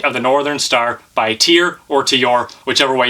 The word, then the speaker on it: Tyr: as an English speaker, it's spelled T Y R, which I think is tier. But I have a friend of mine on Facebook who posted a video of the band member saying it's pronounced to your.